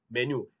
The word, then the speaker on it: menu: But if you're going to say in standard English, this word is pronounced as menu. Menu. Dia ada sengau-sengau sikit. You have some nasalized sounds to it. Menu. Bukan menu, but menu. Ada bunyi nyeh-nyeh.